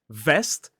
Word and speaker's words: vest: So we have vest and west. Listen to the difference. Vest. West. Vest. West. The key difference is getting your teeth involved for the VV sound.